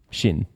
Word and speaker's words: Sinn: Shin. Shin would, in Chinese, clearly have been spelled with the English H.